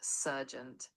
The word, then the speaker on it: sergeant: It's pronounced surgeent.